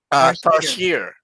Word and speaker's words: tarsier: Tarsier. Tarshia.